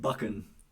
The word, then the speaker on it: Buchan: Buchan is pronounced Buchan.